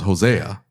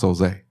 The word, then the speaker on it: Jose: I thought it was Hosea. It was Hosea. And he's like, no, it's pronounced Jose. Hosea. No, Jose. Like No, that. I'm saying you're over here like, I hey, would've said Hosea. I would. Never heard of a silent A?